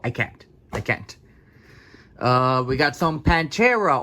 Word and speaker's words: Pantera: We got some Pantera, or how they should be pronounced, Pantera. Yes, I'm saying in Spanish, cabrones. It's Pantera.